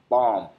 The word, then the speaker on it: balm: So, you know, forgive my uh pronunciations, perhaps, but when I said balm, you know, it's b a l m.